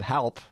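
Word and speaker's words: HLP: from a band called Help um which sounds like help yeah but it's spelled h LP um but uh the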